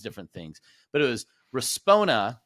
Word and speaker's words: Respona: I was Respona, and all these different things, but it was Respona, right? Am I saying it right, or am I probably saying Respona? Respona.